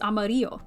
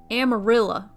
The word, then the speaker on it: Amarillo: yellow in spanish which if you say it in spanish it's amarillo right you know how the people in texas pronounced amarillo not amarillo amarilla they said amarilla i'm from amarilla now